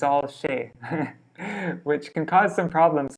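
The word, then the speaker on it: সে: amit it's you see it's an s but in bengali it's pronounced it's pronounced shay except for you know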